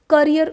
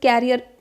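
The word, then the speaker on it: career: Ambition, गोल, करियर, objective. इसको कई students कैरियर pronounce करते हैं, सो डू नॉट do that mistake. करियर, objective और एस्पिरेशन, ये कुछ एम्बिशन के सिनोनिम्स हैं.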